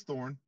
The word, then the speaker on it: Thorne: Today we're talking to Thorne, and I should have, is it Thorne or Thorny, or how do you pronounce it? It's Thorne.